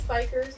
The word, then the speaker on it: Vickers: So I told her that Bikers. I said, but it's spelt like Vickers, not Bikers. that we pronounce it differently.